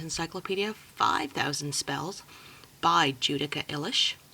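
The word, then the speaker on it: Illes: 5,000 spells by judica ilish I know a lot of people pronounce her last name as ills or illis but she's uh polish and is how you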